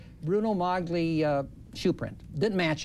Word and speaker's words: Magli: guess would be molly g before allen italians is silent it didn't match the bruno yeah bruno maglis that's right bruno mogly uh shoe print didn't match it ergo what